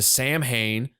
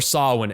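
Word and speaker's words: Samhain: say an honorable mention would be listen to Sam Hayne uh Sam Haynes version of Halloween uh or Sinn as it's actually pronounced uh no one's going to pronounce it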